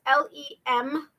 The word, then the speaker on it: Lemieux: has right it's mario m-a-r-i-o but lemieux is l-e-m-i-e-u-x lemieux and the reason i know how to say is to pronounce it correctly is because of warehouse 13.